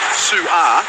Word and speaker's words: Su'A: And Tim from Upper Caboolture says my pronunciation of Jayden Su'A, the way I try and make sure that there is the pause for the apostrophe, he says it suggests a nickname for him, "Pigeon."